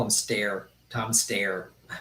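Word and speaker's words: Steyer: Tom Stayer. Stayer, I guess is the correct pronunciation.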